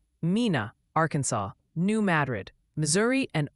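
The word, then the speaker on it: Mena: viewers are suggesting it's Mina Arkansas New Madrid Missouri and obayan County tenen keep dodging those tricky names Mina gotcha you should have spelled it m i n a then d g it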